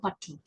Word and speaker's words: Pattu: So with that, I'm going to talk to you about your book, the My Mother Pattu. Is that how you pronounce it? Yeah, My Mother Pattu, right.